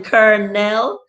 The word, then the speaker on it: colonel: bother to try so in kernel the first o seem as if it's trying but the second o didn't even bother to try but in addition to